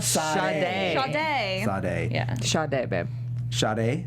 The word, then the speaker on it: Sade: Sade. Sade. Yeah. Sade, babe. Sade? Sade. If it's like the singer, Wait, like the singer?